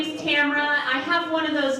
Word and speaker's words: Tamra: all the time like people are constantly mispronouncing my name and because my name's Tamara people will call me one of two things will either call me Cameron or Tamara and honestly I don't